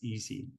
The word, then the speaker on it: EESSI: little bit right so the way we pronounce that is easy so the easy environment